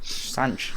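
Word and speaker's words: Sanches: I'll start with Renato Sanch. Is that how we pronounce it? Sanch, yeah.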